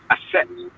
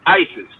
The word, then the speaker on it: Aset: Her name was Aset, but the Greeks pronounce it as Isis. Hmm. They and their tongue it came out as Isis, but it's the proper way is Aset.